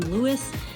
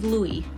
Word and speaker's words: Louis: Louis is 13, but I mean, a lot of people confuse his name by looking at it because of how it's spelled. People call him Louis, but it is indeed Louis.